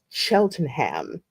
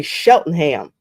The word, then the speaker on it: Cheltenham: Like the British say Cheltenham. We say Cheltenham. That's how we pronounce it.